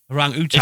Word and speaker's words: orangutan: and then I'll say orang-utan. everyone says orangutan, don't they? Though? Yeah, we was all brought up to say orangutan. But it's just 'cause wrong.